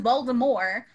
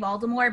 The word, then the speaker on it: Voldemort: Which is how Voldemort, the only person who pronounces it right is J.K. Rowling, who says Voldemort, but even in the movies they say Voldemort, so in my mind that's right. Yep. I've never heard the silent T. Well, I mean, I didn't realize she had a silent T there.